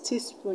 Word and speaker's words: teaspoon: teaspoon this was ending so we're gonna stress on the last level in cartoon you're going to stress tune in afternoon you're going to stress noon and teaspoon you're going to stress spoon that's the last level